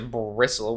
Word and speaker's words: bristle: lately Cameron seems to bristle whenever he does Bristol Bristol Bristol do you know how to pronounce the T no well why not because you just don't isn't Bristol a word